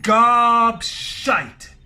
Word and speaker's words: gobshite: Therefore, we can say, you are a gobshite, you talk a lot of shit. Now, don't say gobshit, because gobshit does not exist. Gobshite. Alright, so make sure you get the pronunciation right.